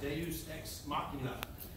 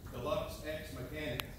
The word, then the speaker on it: Deus Ex Machina: The name of this piece is Deus Ex Machina. The first thing I had to do was learn how to pronounce it. I think the first way I pronounced it was Deluxe Ex Mechanic.